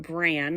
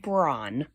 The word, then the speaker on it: Bran: It's not Bran like the cereal. It's pronounced Braun.